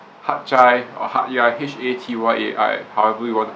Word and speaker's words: Hat Yai: Hat Chai or Hat Yai, Hatyai, however you want to pronounce it. Some people pronounce it as Hat Yai, but the locals there pronounce it as Hat Chai.